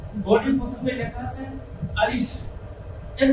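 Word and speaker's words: ألف: হাওয়া বার হবে সেটা বোঝার জন্য আলিশ কিন্তু আরেকটা উচ্চারণ সাধারণত মানুষ করে থাকে আরিফ এটা রং এই উচ্চারণটা হবে না তাই প্রিয় দর্শক একটু খেয়াল রাখুন আমার মুখের দিকে আলিফ আলিফ এমনভাবে যদি উচ্চারণ করা হয় তাহলে এই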